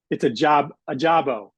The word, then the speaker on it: Ajagba: And one of my most important questions I asked him was how to pronounce his name. So it's a Jabo.